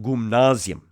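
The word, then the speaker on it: γυμνάσιον: around the the gymnasium gymnasium in greek is pronounced gumnasium and gumnus in greek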